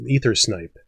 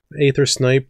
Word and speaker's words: Aether Snipe: folks might know is ether snipe aether snipe depending on how you like pronouncing the AE diphthong there but it's a nice